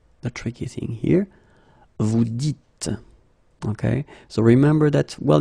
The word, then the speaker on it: dites: So it's not vous disiez, okay, as many would think, but then it's vous dites, okay, final S not pronounced, vous dites.